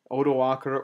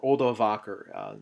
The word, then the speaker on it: Odoacer: Odoacer or Odovaker. It's pronounced both ways. Sometimes it's spelled with a V.